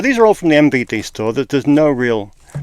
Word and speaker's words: MVD: Make sure you pronounce the M in that, or else it comes up as VD store. MVD store.